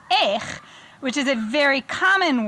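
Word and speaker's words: איך: If you drop the hey, and it's just aleph yud chaf, it becomes eich, which is a very common word.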